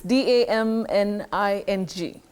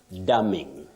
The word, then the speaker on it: damning: n i n g dumming dumming dumming not dumbing as you correctly put it the N is Silent not pronounced so you say daming report not a damning report okay okay daming it